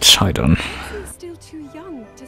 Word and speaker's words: Sidon: So they do pronounce it Sidon.